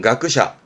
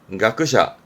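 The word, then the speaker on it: 学者: 발음은 가크샤, 가크샤.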